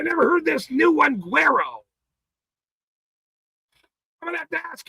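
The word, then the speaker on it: güero: Gu U E R O Guero, which is pronounced G W E H R O is a common term in Mexican Spanish.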